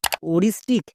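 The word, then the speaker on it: aoristic: এখানে কি করব? পরের ভাওয়েলটিকে সাইলেন্ট করে দেব, তার মানে ওটাকে উচ্চারণ করার দরকার নেই, শুধুমাত্র এর উচ্চারণ করব। এর জন্য ও, আর আই এস এর জন্য রিস, তাহলে ও plus Rhys ওরিস। টি আই C tick, ওরিস্টিক।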